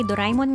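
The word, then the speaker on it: Doraemon: By the way, Doraimon nga pala talaga 'yung pronunciation nila dito sa Japan.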